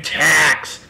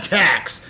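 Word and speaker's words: Tkacs: Next on the list, my good friend Bryan Tax. That's T-K-A-C-S. The K is silent. Bryan Tax.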